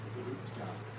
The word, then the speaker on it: Zarutska: Today, the episode features both Chuck and Anna Zarutska as And that's how you pronounce her last name, Zarutska.